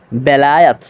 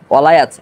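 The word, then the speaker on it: ولایت: বিশুদ্ধ উচ্চারণটা হলো এরকম বেলায়াত বেলায়াত ওয়ালায়াত, এটা একটা ভুল উচ্চারণ, কিন্তু এই ভুল উচ্চারণটা বেশি প্রসিদ্ধ হয়ে গেছে আমাদের মাঝে।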